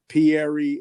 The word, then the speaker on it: Pieri: saying your name right i'm from jersey so it sounds like an italian name pierry am i saying it right you got that right just perfect there we